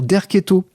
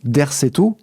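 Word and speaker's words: Derceto: Alors, petite note amusante, il semblerait en fait qu'il fallait dire Derqueto. C'est comme ça que le prononce Nicolas Denéchot et c'est comme ça effectivement que c'est orthographié en phonétique sur Wikipédia.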